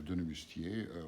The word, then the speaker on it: Denemoustier: how it's like that pronounced in French because it's a French name, French-speaking part of Belgium. So Joseph Denemoustier was born in Marcinelle.